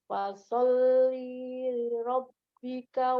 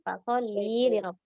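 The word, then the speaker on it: فصل لربك: Fasolli rabbika wanhar. Nah, kan tadi dijelaskan bahwa sering kesalahan nih di sini li-nya dibaca panjang. Nah, Umi Dwi bacanya panjang. Fasolli li rabb. Seharusnya pendek.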